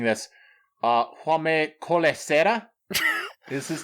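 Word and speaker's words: Jaume Collet-Serra: And J-Ship, please correct me if I'm mispronouncing this. Jaume Colesera is his name? Jaume Colesera, yeah.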